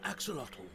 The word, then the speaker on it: axolotl: Mexico this extremely rare aquatic salamander is an axolotl Axolotl there you go excellent this trailer is